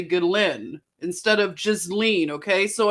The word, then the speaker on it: Ghislaine: It's Ghislaine. Okay, so from here on, I can't promise, but I'm going to try to say Ghislaine instead of Ghislaine.